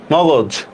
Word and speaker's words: মগজ: মগজ। দেখেন তো, মগজ উচ্চারণটা অনেকটা সহজের মতো কিনা।